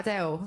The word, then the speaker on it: Adele: Next up, Adele.